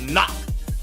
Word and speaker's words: NAHC: fortnight last night and nahc pronounced knock taking first place overall